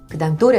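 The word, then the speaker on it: どれ: 하지만 "dore" 의 경우 , 처음 부분 의 음높이 가 더 높습니다 .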